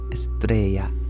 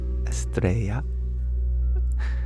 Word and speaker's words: Estrella: Billy, you share that Estrella is pronounced Estrella. Thank you for reminding me. I had forgotten that the double L makes a palatal approximate yeah.